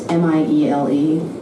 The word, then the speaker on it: Miele: So yeah, if you get a chance to read the biography of this guy, Josh Meal, I think how you pronounce his last name, it's Miele.